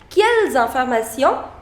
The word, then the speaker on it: quelles informations: The liaison rule says that if a word ends with a consonant, here it is ending with a consonant which is S, and the next word begins with a vowel, that is I, it's a vowel. So you start pronouncing the last consonant as well. So that is why it is quelles informations.